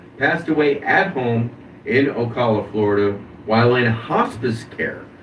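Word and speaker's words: Ocala: Funk was the coach of the Funking Conservatory Professional Wrestling School in Okala, Florida. I believe that's how you pronounce that. It's either Okala or Wasala, one of the two.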